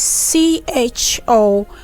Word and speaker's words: chord: And then we have another chord again, which is C-H-O-R-D, is also pronounced as chord. In other words, the CH there is producing the sound of K.